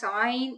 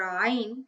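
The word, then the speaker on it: عين: Now there is another major difference between ayn and ghayn, and that is that ayn is not pronounced with a fuller mouth. So the sound of ayn is not heavy.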